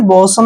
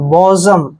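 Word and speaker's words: bosom: ओ एस ओ एम इसको आपने बसम नहीं पढ़ना है बी का उच्चारण हम ब करते हैं ओ को ओ पढ़ते हैं और एस का उच्चारण यहां पर ज करेंगे क्योंकि जब भी एस से पहले ओ होता है और ठीक एस के बाद ओ होता है तो एस का उच्चारण हम ज करते हैं और एम को मैं पढ़ते हैं बजम ठीक है बजम बजम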